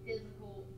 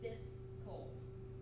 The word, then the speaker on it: fiscal: people out there that call it a physical year. Remember, it is fiscal, two syllables, not three.